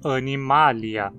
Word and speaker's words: Animalia: Assim, o acento cai na antepenúltima sílaba e a gente precisa dizer animalia.